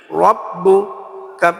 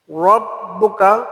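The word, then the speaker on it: رَبُّكَ: উচ্চারণ সঠিক হয় না রব্বুকা উচ্চারণ হবে রাব্বুকা হবে না রব্বুকা আলামইফালা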